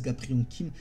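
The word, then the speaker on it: Gapryong Kim: Donc on va la prononcer un peu à la française, Gapriang Kim.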